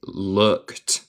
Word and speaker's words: looked: No se dice ed aquí, se dice looked. Como ed es un T.